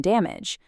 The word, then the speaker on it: damage: Words like village, manage, and damage don't actually have a full age sound. The ending sounds much more like itch.